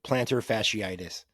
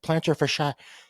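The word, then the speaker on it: plantar fasciitis: to run but like people cannot pronounce it when they read it like planter for shot planter fishy his foot has an issue or fidus or FAS they just butcher it so I commend you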